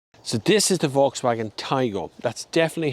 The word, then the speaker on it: Taigo: So, this is the Volkswagen Taigo. That's definitely how you pronounce the name.